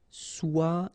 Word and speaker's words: soigner: or s'occuper de soigner remember g nier soigner nier s'occuper de se plaire